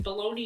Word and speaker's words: bologna: But for some godforsaken reason, baloney and pony rhyme. And baloney doesn't even have a Y in it, it's bologna. Like, that's how it's spelled.